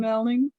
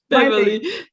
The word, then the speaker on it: Meilin: Welcome, Meilin. I said your name wrong. No worries. Maybe that's my new name. Meilin.